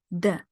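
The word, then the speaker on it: д: it's a good mnemonic duh as in drone well when we say drone uh it's not like the the same the exact same um sound but it's very close to the Russian duh the Russian duh is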